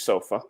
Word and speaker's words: sofa: just remember, guys, not Oh, sofa, excellent, Matteo. but sofa. Yeah. So the stress is different from Italian.